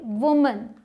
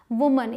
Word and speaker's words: woman: अब देखिए वुमन, WOMAN, इसे वुमन बोलते हैं, जिसका मतलब है औरत या महिला। वुमन, इसे बहुत सारे लोग वुमैन या वोमन ऐसे बोलते हैं, लेकिन क्या है ये? वुमन।